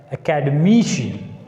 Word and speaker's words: academician: And see this one, academician, academician. Here we should put the stress on M because it ends with IAN.